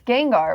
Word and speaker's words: Gengar: it' be really crazy if it wasn't it's Gengar right that's how you say it I was